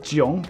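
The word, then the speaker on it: 囧: It's pronounced Jiang, but that's not important. What's important is Jiang, that it looks like this.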